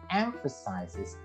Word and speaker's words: emphasizes: Jadi yang tadi I want this job because it emphasizes. Jadi the stress is on the first syllable ya.